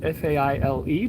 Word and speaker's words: Faile: collaboration of two people it's called fail f-a-i-l-e but pronounced fail and uh it's current